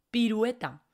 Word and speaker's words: pirueta: una ele pirueta piruleta de hecho en pirueta a veces la gente tiene problemas para pronunciar un hue pirueta piruleta fijaos quiero que